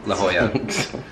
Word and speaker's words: La Jolla: This place called Ho Chi Minh Trail in La Jolla. It's actually pronounced La Jolla.